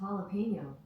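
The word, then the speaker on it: jalapeño: That's pronounced jalapeno.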